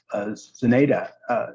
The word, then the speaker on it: Zenaida: Zenaida, am I pronouncing your name correctly? Yeah, is also fine. okay, thank you.